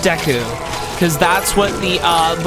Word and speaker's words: Deku: And yes, I pronounce it deu. So, uh the reason why I did that is cuz the first person I ever heard pronounce it and introduced me to Zelda uh pronounced it that way. So, uh that's how I pronounce it. I don't care if it's pronounced Deku because that's what the